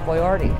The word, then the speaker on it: Boyardee: they say Oh chef boyardee yes he want to make sure they pronounce his name right so he put the bo y dash areee on it and and then he